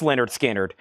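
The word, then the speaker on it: Lynyrd Skynyrd: And then we have Leonard Skard Pronounced Leonard Skard. This is a 2LP 45 RPM.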